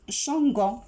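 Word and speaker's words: changeons: J'écris ONS, ça se prononce changeant, mais on a le verbe changer, donc j'ajoute E. Sa terminaison, c'est E-O-N-S, non pas seulement O-N-S.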